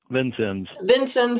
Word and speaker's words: Vincennes: Troy Hinkle is the Development Director for Knox County Soil and Water Conservation District in, how do you pronounce that city? Vincennes, Indiana, and a member of the steering committee for Southern Indiana Cooperative Invasives Management.